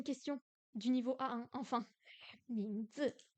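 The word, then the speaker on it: 名字: quoi 什么 quoi 名字，名字 on va pouvoir faire une question du niveau A1 enfin 名字名字名字 le prénom c'est quoi les tons deuxième ton quatrième ton 名字名字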